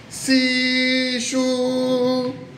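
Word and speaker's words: SISHU: Vous dites si chou.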